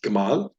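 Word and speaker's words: גמל: Hebrew the camel the Hebrew word for Camel is Gamal Kamal and that's very similar to Gmail now it is a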